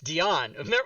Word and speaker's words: Dionne: and by the way Kelsey's last name is pronounced Deon not Deon no it's it's Deon we practiced this you're gonna say that to